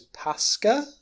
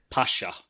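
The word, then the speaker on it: Pashka: Anyway, so it turns out that she has a child whose name is Pasca or something. Pasha. Thank you. So I knew I was pronouncing this wrong.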